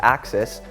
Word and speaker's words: AXS: the 12 speed access group spelled AXS for pronounced axis is going to be available this coming April